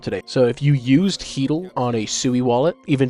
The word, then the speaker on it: Haedal: Now, this one I don't fully know how to pronounce the protocol, but I believe it's Hedel.